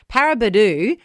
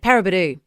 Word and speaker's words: Paraburdoo: And if you're waking up in Paraburdoo, how cool are Western Australian town names? That is a very cool name. Isn't it? Paraburdoo. Pretty cool. Kind of rhymes with Kakadu.